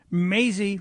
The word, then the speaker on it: Mazie: And one of the regulars in Democrats Say the Darndest Things is Hawaiian Senator Mazie, rhymes with crazy, Hirono.